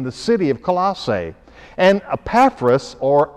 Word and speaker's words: Epaphras: church planter in the city of colossae and epaphras or epiphras if you prefer that pronunciation epiphanes was the guy then who led